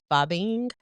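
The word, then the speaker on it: phubbing: And then another term that I learned is called fubbing. So it's spelled p h u bb i n g.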